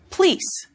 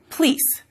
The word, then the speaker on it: police: For some speakers, the word police becomes pleece, as that vowel gets deleted and you get a consonant cluster, PL, police, in the front.